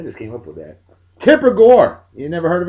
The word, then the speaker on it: Tipper: a chick that has a name that rhymes with stripper I just came up with that Tipper Gore you never heard